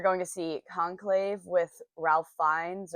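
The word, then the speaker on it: Ralph Fiennes: to see conclave with Ralph fines or R fiends I think is the correct pronunciation of his name and then we're going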